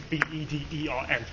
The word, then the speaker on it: Bedern: area known as Bedern, B-E-D-E-R-N. It's an old Anglo-Saxon phrase, actually quite difficult to pronounce in Anglo-Saxon. Just about remember my old English. I think it was pronounced Bedern.